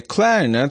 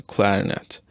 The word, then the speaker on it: clarinet: one syllable in one sentence and on another syllable in another sentence consider the word clarinet in this sentence he had a clarinet solo and in this sentence he plays the